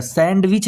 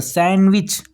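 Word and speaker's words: sandwich: जो सैंडविच होता है सैंडविच नहीं बोलते सैंडविच ठीक है ना तो उसमें डी जो है आपका क्या होता है साइलेंट हो जाता है ठीक है ना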